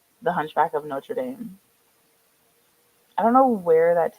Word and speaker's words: Notre Dame: notra Dame notor notra how do you say it now I'm like really intrigued how you say it no notam oh notra yeah yeah yeah that's probably the right way that's probably the correct way I am an uncultured